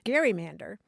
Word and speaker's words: gerrymander: don't don't people say Gary Mander and indeed for a long time they did say Gary Mander really yeah yeah and it the pronunciation changed over time I think as the